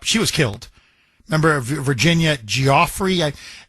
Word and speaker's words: Giuffre: Remember Virginia Giuffre? Everybody says her name differently, but so I've heard multiple pronunciations. But Giuffre. So Giuffre, however you pronounce her last name, she came out and said, I'm not suicidal.